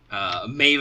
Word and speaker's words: Medb: earlier, but I said I have a strong urge to write it as Maeve in the show notes, just so nobody accidentally reads her name is written. As in, literally write it out phonetically that way. As you have seen by the fact that we have to keep pausing to be like, no, that's not how it's actually said.